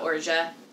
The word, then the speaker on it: orgeat: fortunately he's got it covered today we're making orgia first thing you should know about urja yes that is how you pronounce it like zsa like it's in zhajo